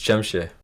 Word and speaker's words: Jamsha: Okay, how do you say it? Is it Jamsha? It's Jamsha.